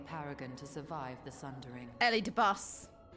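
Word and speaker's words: Elidibus: to survive the sundering Ellie de bus yes that's what I said I pronounced it the same Ellie de boo I agree Eddie boo xenos had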